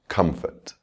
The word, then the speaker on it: comfort: You can hear the stress on the first syllable, comfort. Now we'll add the suffix able, comfortable.